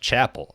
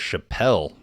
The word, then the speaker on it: Chappell: Willard Missouri okay I just found out it's pronounced Chapel I thought it was Chappelle cuz I was just reading it I think